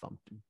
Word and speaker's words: fmt: FMT is pronounced fumpt in Go world.